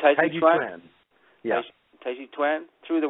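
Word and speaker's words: Taijiquan: Taiji Chuan is the Chinese pronunciation of Tai Chi, what we more familiarly know in the U.S. as Tai Chi.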